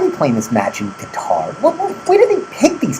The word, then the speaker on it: Qatar: Is it pronounced guitar, like the musical instrument? Qatar. Yes, the great, odd country of Qatar.